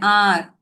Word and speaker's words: hour: Sorry, these kind of words wherein the letter H itself is silent, those cases we use this article an.